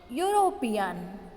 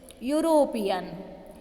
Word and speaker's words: European: For example, a European country sounds like European, that is begins with consonant y sound, though the spelling starts with the letter e, but we pronounce this word in the sound y, European.